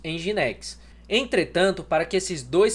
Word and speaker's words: Nginx: Esse aqui que alguns falam Nginx, em geral nós pronunciamos Nginx.